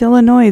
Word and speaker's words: Illinois: It's Illinois. The S is silent.